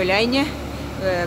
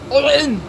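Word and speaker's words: Эль-Айн: Да, я все еще в Эляйне. Кстати, город Эляйн имеет три произношения. Эляйн, Аляйн и такой по-арабски Олейн, Олейн. О, вот так вот. Так будет правильно.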